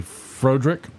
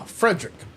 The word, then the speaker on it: Frederick: Do you also say Frodrick? No, Frederick.